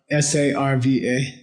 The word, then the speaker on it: Sarva: S-A-R-V-A. Sarva. Good. Tathagata. T-A-T-H-A-G-A-T-A. Tathagata. Okay. Avalokite. Avalokite. Avalokite. Avalokite. Yeah. Namah Sarva Tathagata Avalokite.